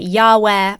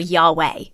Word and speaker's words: Yahweh: all kinds of wrong so linguists and historians think that is most likely pronounced the ways that we commonly pronounce it Yahweh or Yahweh so where does Jehovah